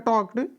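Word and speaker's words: talked: appropriate यहां पर आपका टक्ड इसको जो है एल साइलेंट आपका हो जाता है तो टॉक भी आप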